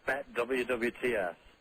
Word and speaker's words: Bet WWTS: Stuart, how do you pronounce the name of your site? It's Bet WWTS.